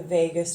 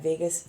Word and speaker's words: vagus: was learning about the vagus nerve not spelled like Vegas but V AG us and so that's the